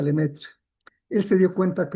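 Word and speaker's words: Lemaître: Eso lo descubrió un sacerdote que vivía en Bélgica que se llama Lemaitre, se escribe, pero se pronuncia Lemetre.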